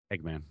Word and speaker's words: Eggman: jim carrey is playing eggman uh eggman or egghead right eggman thank you okay i did say it right